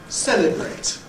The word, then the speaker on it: celebrate: What about celebrate? Celebrate. That ends in a T sound. Ignore the letter E. Nobody pronounces that. That's just in the spelling.